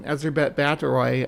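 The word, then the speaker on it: Báthory: is the proper way to say her name ezbet batroy um lore right there she was she actually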